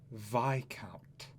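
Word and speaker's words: viscount: weird look inside a very long sigh it's pronounced vi count huh you don't pronounce the ass it's a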